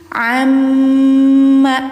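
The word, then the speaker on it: عمّ: Amma. Nah, ini a jelaskan ainnya ya. Jadi ada a ada aa beda ya. Aa ini tenggorokan tengah ain. Amma harus dengung dulu. Mim bertasydid masuk ke gunah musyaddadah.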